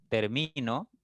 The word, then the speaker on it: termino: Y en termino, la mayor intensidad está en mi, en la sílaba del medio.